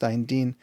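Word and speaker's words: 丹田: And that's one of the main chi tonic, or what we call benefiting the dan tian, or in some areas it's pronounced dan din, area.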